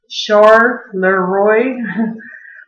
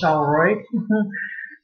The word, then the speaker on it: Charleroi: It's actually pronounced Charleroi, but I say it the way I say it because everybody here calls it Charleroi. So it's actually named after a Belgian city, and Charleroi was a